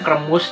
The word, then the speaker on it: Kremush: Mungkin cara bacanya kremus ya, dikremus gitu bahasa Jawa. Tapi ini diplesetkan jadi kremas, singkatan dari keripik mushroom alias keripik jamur.